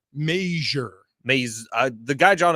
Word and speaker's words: Mazur: all right well know I saw a pronouncer on Twitter from a guy who said it's pronounced like Frasier I you're probably right